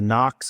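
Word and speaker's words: NOK: So, this is a uh Knox, I believe they that's how it's pronounced, but N O K, and then the part number is AC 2016F.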